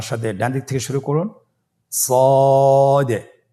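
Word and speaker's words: ص: মোটা হরফ উচ্চারণের ক্ষেত্রে মোটা করে পড়তে হবে এবং উচ্চারণ করার সময় তিন আলিফ টেনে পড়তে হবে।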